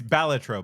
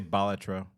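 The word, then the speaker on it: Balatro: It's batro. By the way, I've been saying it wrong, too. It's batro. Yeah, you're supposed to say bolatro.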